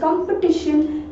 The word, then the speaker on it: competition: तो ऐसे में TION का जो उच्चारण होगा वो क्या होगा, वो श होगा यानी शन होगा. That is कंपटीशन.